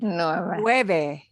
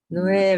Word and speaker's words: nueve: At the end of this number, you want to smile at the end. Nueve. Nueve, Nueve.